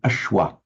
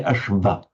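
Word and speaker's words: aśva: When the V sound directly follows a S or a SH or a stop consonant, it's pronounced virtually identical to the English W.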